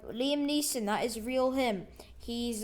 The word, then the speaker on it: Liam Neeson: actually real liam neeson liam wiesen that is not how you say his name um liam neeson that is real him